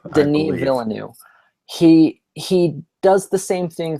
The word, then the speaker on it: Villeneuve: It's Denis Villeneuve. Denis Villeneuve.